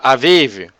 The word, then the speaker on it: Aviv: Em hebreu seria pronunciado Aviv.